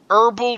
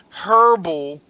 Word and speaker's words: herbal: health, turn everybody to herbal treatment. Now if you're from the UK or Australia, you say herbal, but everybody else in the rest of the world says herbal, okay?